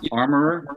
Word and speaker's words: armorer: Is it pronounced armorer? Yeah, armorer. Or the piece of furniture in your house would be an armoire.